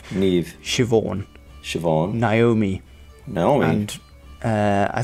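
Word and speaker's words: Siobhán: okay so this is how you actually pronounce them ne ne shioon Shon Naomi Naomi and uh I think it's ether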